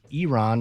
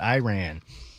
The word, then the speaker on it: Iran: It's Iran, not Iran."